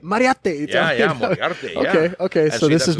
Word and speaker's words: Moriarty: art is the secret used to say instead of moriarty bingo yeah and he would constantly tell me that because i'd say hey we're going to moriarty i'd be like don't wipe that up say it mariate okay okay so this